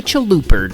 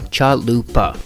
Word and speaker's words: chalupa: want to make a chaluper do you well first off pronounce it right Mr or ma'am chalupa crispy soft chewy cheesy